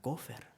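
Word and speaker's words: כֹּפֶר: tomar en cuenta la expresión hebrea que se pronuncia cofer y que se traduce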